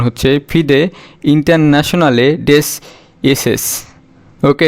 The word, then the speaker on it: FIDE: তো ফ্রান্সের এটার ফুল ফর্ম হচ্ছে FIDE এর উচ্চারণ হচ্ছে ফিদে ইন্টারন্যাশনালে ডেস এসেস। ওকে, এটা ফরাসি শব্দ, বাট এটার মানে ইন্টারন্যাশনাল চেস ফেডারেশন ফিদের এটা।